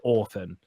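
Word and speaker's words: Orphen: could orphan or or it's pronounced orphan but it's spelled or fen and it's basically in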